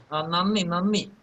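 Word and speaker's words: നന്ദി: Nanni.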